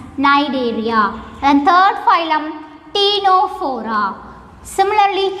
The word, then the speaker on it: Cnidaria: Here the first letter C is somewhat silent, so we have to pronounce it as Cnidaria.